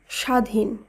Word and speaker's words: স্বাধীন: প্রথম যে নিয়মটি রয়েছে শব্দের প্রথম বর্ণে ব ফলা যুক্ত থাকলে সাধারণত তার উচ্চারণ হয় না আবারো বলি শব্দের প্রথম